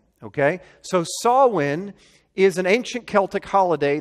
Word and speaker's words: Samhain: per Newt pronounced Samhain it's pronounced saw win okay so saw win is an ancient Celtic